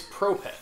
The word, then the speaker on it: Prope: uh is that how pronoun I it's it's Propet I found that out because I I actually